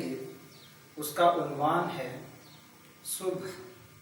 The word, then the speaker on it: صبح: کا عنوان ہے صبح۔ اس لفظ کے تلفظ کے بارے میں یہ وضاحت مناسب ہے کہ صاد کے اوپر پیش ہے اور بے اور ہے یہ دونوں ساکن ہیں، تو اس لفظ کو ایسے پڑھا جائے گا صبح۔ اقبال کہتے ہیں